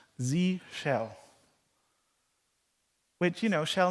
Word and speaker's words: zsh: three times today already it is pronounced Z cell which you know shell